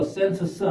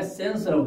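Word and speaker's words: cents: 그런데 이걸 또 센트 써 하지 마시고 왜 센스라고 해야 되냐 하면은 연달아 자음이 세 개 겹칠 때는 거의 중간에 거는 거의 발음이 안 납니다. 그래서 센스 이랍니다. 이걸 우리식으로 그냥 센트 써 하시면 안 됩니다.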